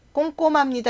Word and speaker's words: 꼼꼼합니다: 발음하는게 맞겠죠 박지원 부장님은 꼼꼼합니다 꼼꼼합니다 여기도 지금 앞에 미음이 있어서 히읗 발음이 잘 안나요 그래서 꼼꼼합니다 하면 발음하기